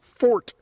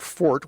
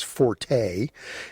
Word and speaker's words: forte: mentioned it's a cause for celebration when someone pronounces fort properly which Brian does the word fort which a lot of people pronounces Forte he points that out on the chat and